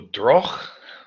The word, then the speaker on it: Droog: Anyway, we're going to move on to DROOG, or DROOG, I think is how you pronounce it. If there's any Dutch speakers, correct me.